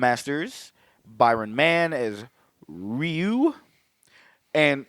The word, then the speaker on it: Ryu: Champa as Ken M ERS Byron man is Ryu and it's funny cuz they all is rayu or Ryu yes thank you that is exactly